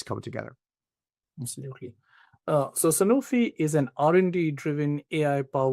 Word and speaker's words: Sanofi: Rohit, for those not familiar with Sanofi or Sanofi as it's often pronounced, tell us about the